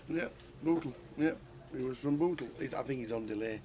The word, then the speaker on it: Bootle: Is that not how you pronounce it? Bootle? Yeah, Bootle.